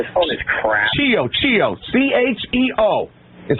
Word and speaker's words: Chio: Cheo is how you pronounce it. Long E, long O.